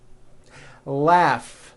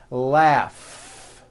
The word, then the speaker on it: laugh: Laugh. Notice the GH combination in that word. Laugh.